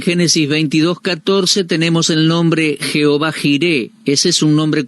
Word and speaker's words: Jehová: Algunos no pronuncian este nombre y otros lo pronuncian Yahweh, pero nosotros lo pronunciamos Jehová.